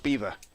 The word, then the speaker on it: Belvoir: at the at the castle beaver Belvoir as it's as it's spelled and Jonathan Agnu talks about it sometimes.